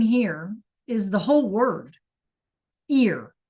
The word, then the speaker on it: ir: This thing here is the whole word ear. It's just spelled Iir and it's pronounced like, you know, the things we hear from, right? So, the verb is ear meaning to go.